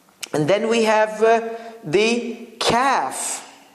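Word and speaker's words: كاف: And then we have the kaf. Kaf is like light qa. Qa is like a little bit from throat. Ka is from like your 2 sides.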